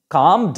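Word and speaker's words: calm: consonant থাকে এর পরে এল পরে যদি কোন কনসোনেন্ট থাকে তাহলে তার উচ্চারণের ক্ষেত্রে এল এর উচ্চারণ সাইলেন্ট হয়ে যায় যেমন দেখো ওয়াক ডব্লিউ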